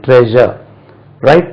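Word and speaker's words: treasurer: சொன்னோம் இல்லையா அதே மாதிரி ட்ரெஷர் ரைட் ட்ரெஷர் பொக்கிஷம் அல்லது கஜானா ட்ரெஷர் அதாவது ட்ரெஷர் பார்க்கக்கூடிய ஆள்தான் ட்ரெஷரர் அது ட்ரெஷரர் இல்ல இது ஷா சொல்லக்கூடாது ட்ரெஷரர் right ட்ரெஷர் ட்ரெஷரர் right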